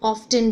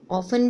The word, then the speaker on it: often: OFTEN, often, इसको हम often भी बोल सकते हैं। often भी प्रोनाउंस कर सकते हैं और often भी प्रोनाउंस कर सकते हैं, दोनों राइट है।